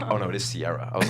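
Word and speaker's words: Ciara: Um, no, but the way it's spelled is Siara. Sierra. It's the romantic way to say it.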